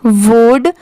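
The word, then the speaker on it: would: यू एल डी वुड अब जैसे यहां पर एल भी तो दिया हुआ है बट हम इसे वुड नहीं पढ़ते सिर्फ क्या पढ़ते हैं वुड जैसे सी ओ यू एल डी इसे हम कुड पढ़ते हैं। डब्ल्यू ओ यू एल डी इसे हम वुड पढ़ते हैं। एस एच ओ यू एल डी इसे हम शुड पढ़ते हैं। बट इन तीनों में तो एल दिया हुआ है।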